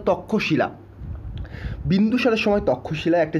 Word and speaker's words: তক্ষশিলা: ট্যাক্সিলা বা তক্ষশিলা, তখনকার নাম বলা হয়, বাংলায় উচ্চারণ করলে তক্ষশিলা।